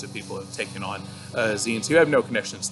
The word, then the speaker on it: zine: are so if you've never heard of a zine before the term itself comes from magazine and it's pronounced a magazine that design but Xion like magazine and it is a small publication